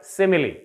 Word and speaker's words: simile: This word has 3 syllables. This is a trisyllabic word, simile.